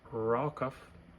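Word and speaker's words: רחף: The original Hebrew word, rakaf, pronounced rakaf, it meant to flutter, move, or shake.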